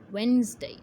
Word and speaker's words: Wednesday: लेकिन जब इसको ऑन द होल प्रोनाउंस करते हैं तो डी की साउंड नहीं आनी चाहिए, सो इट्स वेडनेसडे।